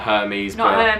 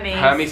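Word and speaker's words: Hermès: that there we go it's not hermes hermes is funny to go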